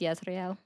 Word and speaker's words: Yisrael: It's actually pronounced Yisrael. Right.